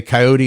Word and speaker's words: coyote: First, he says people say coyote instead of coyote. Or he said they say coyote instead of coyote. I'm sorry. It should have 3 syllables.